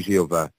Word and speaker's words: Jeová: que falei e fiz isso é a pronunciação de Jeová e continuou a vir